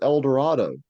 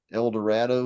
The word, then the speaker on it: Eldorado: Dorado great poem but he Rhymes El Dorado with Shadow yeah so he would have been saying El Dorado doesn't sound right to our ears because we know yeah how it should be pronounced but that's probably the way he would have pronounced it because that's the way people around him so instead of saying